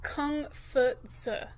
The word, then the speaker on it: Kongzi: It's actually a Latinized version of his name and is not anywhere close to what the classic Chinese characters would have sounded like when they were pronounced. So what's more accurate is Kongzi.